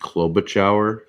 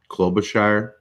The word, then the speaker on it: Klobuchar: what did i forget amy klobuchauer klobuchar from minnesota the mere fact that i had to clarify she's from minnesota i guess i had to because i had her name wrong but it's amy what